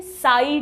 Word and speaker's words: psi: तो इसको पढ़ेंगे कैसे, साई W। सॉल्यूट पोटेंशियल होगा तो साई S, प्रेशर पोटेंशियल होगा तो साई P, वाटर पोटेंशियल है तो साई W, राइट। साई में P साइलेंट है।